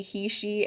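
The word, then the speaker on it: heishe: They are spelled H-E-I-S-H-E, he-she, and that's referring to the shape of these.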